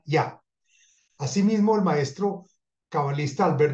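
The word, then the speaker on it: יה: meditar el santo nombre de Yud-Heh que se pronuncia Yah.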